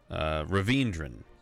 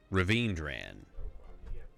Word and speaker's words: Ravindran: I'm told I'm pronouncing Ravindran's name wrong. Hang on a second. Let me give you the actual name. Sounds like a cold medicine. Ravindran. I've been saying Ravindran. It's Ravindran. Ravindran does sound more like a cold medicine instead of Ravindran.